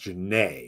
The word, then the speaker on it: Janae: Or Janae, pronounced Janae, excuse me.